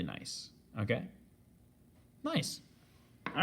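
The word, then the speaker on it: gneiss: once again is pronounced nice but it's spelled g g-n-e-i-s-s okay so phonetically reading it kind of looks like it's pronounced janiece but this is actually nice okay nice all right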